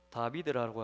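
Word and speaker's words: דוד: 그래서 다비드라고 하는 글자도 세 자음으로만 되어 있습니다. 달렙, 바브, 달렙. 그래서 디귿, 비읍, 디귿. 그래서 다비드 이렇게 발음이 되는데, 우리나라 말로 하면 디귿, 비읍, 디귿 요 세 자음으로 다윗의 이름이 그래요, 여러분.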